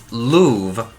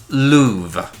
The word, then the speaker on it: Loewe: from the German word Loewe, which is like a lion, so his name should be pronounced Loewe, I believe. Kind of like the museum in France, the Louvre, I guess?